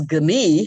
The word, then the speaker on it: Guni: My latest arrival immigrant was Guni, looks like Gunild, but it's pronounced Guni, Jakobsdatter Einong, pictured with my grandmother in this four-generation photo.